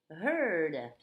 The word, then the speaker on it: heard: Beware of herd, a dreadful word that looks like beard but sounds like bird.